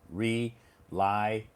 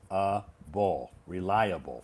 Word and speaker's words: reliable: everybody knows four syllables reliable reliable four syllables fantastic where's this where's the stress on which syllable is the uh stress the second one great everybody knows this